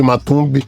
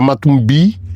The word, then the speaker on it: Matumbi: Aí voltei, esse nome não me deixou em paz porque as pessoas continuavam me chamando de Matumbe. Matumb. Na idade, a pronúncia certa seria matumbi, mas as pessoas começaram a me chamar de matumbi.